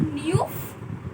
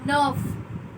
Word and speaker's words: neuf: That is nerve. It's not neuf or neef. It's nerve.